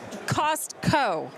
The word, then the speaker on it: Costco: it the right way there's a t you have to pronounce the T Costco yeah it's like